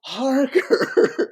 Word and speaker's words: Harker: on Facebook at well Harker h a r k r Harper with a K and Parker with an H this is how I